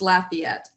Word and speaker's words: Lafayette: careful it's it's pronounced Lafayette so you kind of emphasize the LA the laugh part of part of it but it's the very